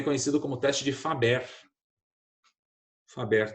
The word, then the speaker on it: Faber: Faber, do jeito que eu estou falando, se escreve mesmo. Faber, F-A-B-E-R.